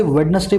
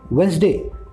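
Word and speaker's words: Wednesday: नहीं बोलने के अंदर अब इसको आप इसे वेडनेसडे होना बंद करें आप इसको लेंगे वेनसडे वेनसडे आप किसी भी अच्छे स्पीकर की स्पीड को समय कभी भी वह वेडनेसडे नहीं बोलेगा हमेशा हूं बस यही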